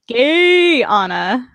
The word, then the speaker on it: Guyana: point out that uh quest says that it's pronounced gay anna so we're gonna go with that pronunciation um no so okay